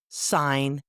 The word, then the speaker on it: sign: G is silent before N. Sign, design, foreign.